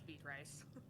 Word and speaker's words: Beatrice: it actually pronounce yeah how do you actually pronounce it but um it's beet rice the sign looks like beatrice so to